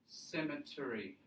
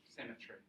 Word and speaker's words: cemetery: cemetary not the mm cemetery II so there's the schwa again there's the schwa and it's not an a cemetery collie yes it's got